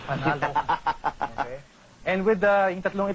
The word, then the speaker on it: panalo: Panalo. Panalo. Panalo. Yeah, he taught me how to say it the right way. Panalo.